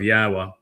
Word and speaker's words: Yahweh: And haya tells us how to pronounce the y the yod and the two hays in Yahweh's name. It's hi yah.